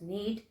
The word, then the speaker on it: knead: of need here uh k is silent okay it is pronounced as need therefore she needed another